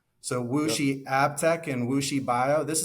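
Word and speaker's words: WuXi: mentioned in that bill um it's spelled wxi pronounced wooi so wooi abtech and wooi bio this is a very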